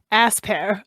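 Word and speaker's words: Aspear: can i just say i never realized before that you pronounced this berry ass pear yeah i also learned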